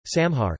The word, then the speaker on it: saṃhar: Marathi retains the original Sanskrit pronunciation of certain letters such as the anusvara, for instance, samhar, compared to sanhar in Hindi.